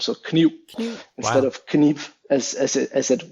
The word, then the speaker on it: kniv: an example of that would be the word kniv, the word for knife. So kniv, K-N-I-V. The last letter, that would be a V historically, but has been weakened to a U kind of sound. So kniv instead of kniv as it would have been.